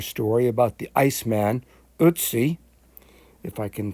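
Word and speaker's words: Ötzi: about the ice man utsi if i can pronounce it um with that european accent the umlaut over the og is a kind of an er sound i'll let you read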